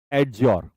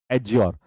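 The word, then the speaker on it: adjure: यहां पे D silent होगा। डी क्या रहेगा, साइलेंट, साइलेंट, ठीक है। डी यहां पर साइलेंट होता है, डी यहां पर होता है साइलेंट, एडज्योर।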